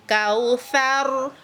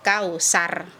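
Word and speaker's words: الكوثر: Dulu waktu kecil saya bacanya begini. Inna a'toinakal kausar. Sar. Nah ternyata kalau sar ini sifatnya rusak atau hilang.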